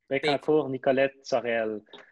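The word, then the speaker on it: Bécancour–Nicolet–Saurel: It was correct me with my pronunciation here, but Bécancour Nicolette Sorel. Bécancour Nicolette Sorel.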